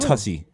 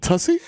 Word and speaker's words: Tussy: Is it spelled like pussy but with a T? I think so.